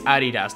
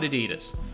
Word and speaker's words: Adidas: And no, I'm not saying that brand name wrong. It's literally named after Adi Dassler, the founder, a German name. It's Adidas, not Adidas.